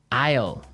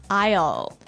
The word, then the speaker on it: aisle: spelled so strangely right we don't pronounce the S the S is silent that's true ale so